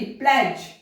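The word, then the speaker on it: pledge: जब डी के बाद में जी, प्लेज, देखो यहां पर डी साइलेंट है, प्लेज।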